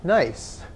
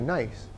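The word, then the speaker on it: gneiss: and then you've got this is called nice that's the way you pronounce it too nice all right and this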